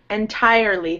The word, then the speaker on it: entirely: Entirely. Think of it like tire is actually sounds like T-I-E-R.